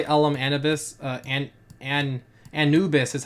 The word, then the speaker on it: Anubis: fun inspired by LM Anubis uh and and Anubis is how you pronounce his name Andrew this LM Anubis people